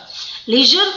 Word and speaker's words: leisure: Leisure होता है खाली टाइम में. That is leisure. Its pronunciation is like pleasure.